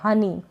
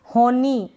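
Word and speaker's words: honey: फिर यह क्या है हनी होनी ऐसे नहीं पढ़ेंगे एच ओ एन होन ई ये इस तरीके से नहीं हनी हनी यहां पर जो ओ है ना इसको हम अ पढ़ रहे हैं हनी मतलब कि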